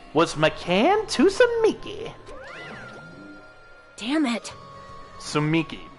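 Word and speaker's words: Tsumiki: Sumiki. The T is silent, Kneale. You gotta be shitting me.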